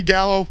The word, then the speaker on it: Gallo: Gallo, 2 syllables.